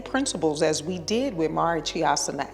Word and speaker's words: Marichyasana: It's pronounced Marichyasana C.